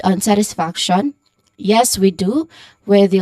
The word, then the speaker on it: satisfaction: Now the stressed syllables or syllables here would be on the first and third syllables, which are sat and faction. So satisfaction, again, satisfaction.